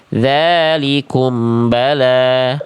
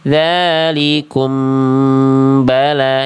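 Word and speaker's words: ذَٰلِكُمْ بَلَاءٌ: Jangan dibaca dzalikum bala. Nah, itu-nya belum ditahan. Harusnya dalalikum dalikum bala. Jadi m-nya dapat dua ketuk dulu di situ. Dalikum bala gitu.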